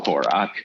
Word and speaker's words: Horak: Spell it like Ack or Ick, but pronounce it O-C-K, so Horak.